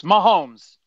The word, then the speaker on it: Mahomes: I was close? You was close. Mahomes.